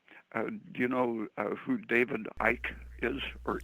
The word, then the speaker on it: Icke: Do you know who David Icke is, or Icky? It's spelled Icky.